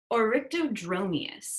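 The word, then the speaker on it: Oryctodromeus: This one is Orictodromeus. Ooh, good pronunciation.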